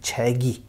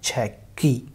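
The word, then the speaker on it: 책이: Only, but when pronouncing, बोलते समय में you will pronounce it like this, इसको ऐसे प्रोनाउंस करेंगे, छैगी, नॉट छैकी और छैकई और समथिंग लाइक दैट, छैगी।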